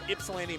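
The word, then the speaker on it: Ypsilanti: people from Mexico all hanging out in uh ipsan Michigan which I had to learn to pronounce last night cuz I kept saying it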